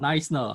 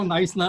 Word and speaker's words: Knysna: It's spelled K-N-Y-S-N-A. So K-N-Y-S-N-A. Yeah. Y-S-N-A. Yeah, Very difficult. yeah, you know, I heard a joke about niceness, how it was named.